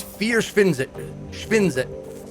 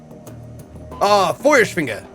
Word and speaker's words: Feuerschwinge: It's Vierschwinze. Ah, fuck. Vierschwinge. Vierschwinge. I remember we pronounced this before. Feuerschwinge.